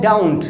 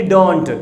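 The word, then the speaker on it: don't: So guys डू नॉट को हम लोग बोलते हैं डाउंट, यानी DON अपॉस्ट्रोफी और T, यानी इसे बोलते हैं डाउंट। ओके, नॉट एक्चुअली डोंट, कुछ बच्चे बोलते हैं इसे डोंट, आई डोंट, नो, इसे बोलेंगे डाउंट, मैं बात नहीं करता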